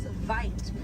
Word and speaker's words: wit: Original word for white rhino was vite. Vite means wide in Afrikaans, but over time it was misheard and mispronounced and it turned into the white rhino.